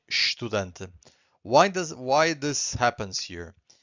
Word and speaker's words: estudante: So here we just say estudante. Why this happens here? Because every time we have an S before a consonant, we get a sh sound.